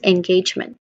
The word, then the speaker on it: engagement: It sounds like in, of course. It's a short e sound, then followed by gauge. Gauge. The second syllable carries the primary stress and sounds like gauge with a long sound and a sound, diphthong vowel sound as in day in the public.